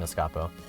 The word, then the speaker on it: Escapo: ahead just to clarify how are we pronouncing escapo like escape or escapade i didn't think it mattered but it's pronounced like escape yeah escapo oh dear god